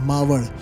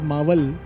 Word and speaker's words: Maval: Mau. It is while you pronounce in English it is mal but in marati we call it as m.